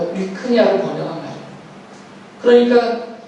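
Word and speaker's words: λυχνία: 헬라어로 읽을 때는 리크니아라고 읽어요. 리크니아.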